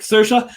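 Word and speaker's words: Saoirse: um on a podcast said like cersa like inertia and it's it's changed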